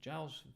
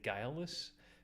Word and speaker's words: Giles: yeah, Giles Feltenheimer. I thought it was a hard G.